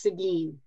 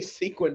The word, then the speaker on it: Seguin: spelled out but it's Seguin right you didn't say sequin most people say sequin but it's Seguin yeah it's Seguin Seguin